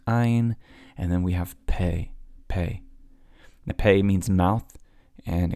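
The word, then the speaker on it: פ: Pei has a couple different sounds. You have a harder Pei, then you have a softer Fei, and then Pei is one of those 5 sophit letters that show up. If they show up at the end of a word, they change their sound.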